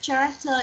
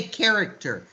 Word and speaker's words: character: My favorite character is Emery. You just say character. You don't have to pronounce the H there. It's just character.